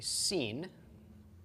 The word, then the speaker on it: sin: And if the dot is to the left, then it is a sin, and it is pronounced as an S, just like the samech.